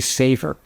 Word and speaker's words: Savor: And in fact, it's not a Spanish word. It's a song on the first album, and I'm looking back later, I realized the song was probably Savor. but we pronounced it Savor to make it sound Latin, and now we're stuck with it.